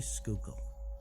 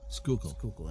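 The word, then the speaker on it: Schuylkill: I used to say Schuykill because that's what I thought, but it's actually Schuykill. Schuykill, and I always forget we'll call it Schuykill.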